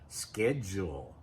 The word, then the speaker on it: schedule: So you have to have a schedule. Now notice this pronunciation in American English. We say schedule. In British English, they may say it a little differently.